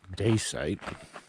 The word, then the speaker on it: Dacite: Okay, Dad, the second weekend at Dacite, now that I'm pronouncing it correctly, we're going to try to